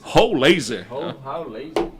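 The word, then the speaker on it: Rollheiser: Roulaser. Essa é a pronúncia, né?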